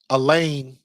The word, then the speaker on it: Elaine: I like a lane rhymes with a plane.